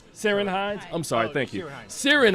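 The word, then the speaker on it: Ciarán Hinds: seen it uh hot is it sirsha hines am i pronouncing that correctly seren hines i'm sorry thank you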